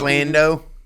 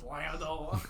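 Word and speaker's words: Landa: How you say his name? You knew he was a son. Hans Lando. You gotta say it like Aldo. Yeah, Hans Lando.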